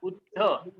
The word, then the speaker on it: बुद्ध: पण उच्चारण ज्यावेळेस कराल तुम्ही बुद्ध, द चं उच्चारण पहिले होतं, ऑडिओ ऑफ करा, द चं उच्चारण पहिले होतं आणि ध चं उच्चारण हे नंतर होतं.